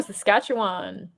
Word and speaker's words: Saskatchewan: How do you pronounce that? Oh, Saskatchewan.